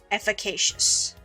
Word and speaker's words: efficacious: The K has a long A sound. Efficacious.